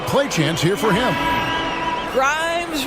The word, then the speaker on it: Grimes: chance here for him Grimes rhymes with dimes on time right there